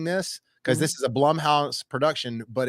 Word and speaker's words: Blumhouse: more hits than misses hey you said it right Blum House Plum House yeah because it's Jason Blum yeah I I think I I don't want to call him Bloom house all the time I think it sounds we all called it Bloom house until we found out the guy owned it name was Jason Blum for real hey Jason